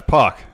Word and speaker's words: Pac: I told you how to say my name. Yeah, it's Pac.